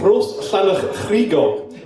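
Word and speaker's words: Rhosllannerchrugog: So it’s called Rhosllanerchrugog.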